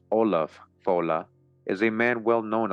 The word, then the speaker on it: Ollam Fodla: Ollam Fodla, pronounced Olaf Fola, is a man well known of thought, not accurately known in Irish tradition as a great monarch, sage, and lawgiver.